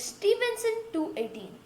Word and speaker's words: Stephenson 2-18: We are talking about the largest discovered star in the universe, which is Stephenson 218. Pronounced as Stephenson 2-18, and it's located in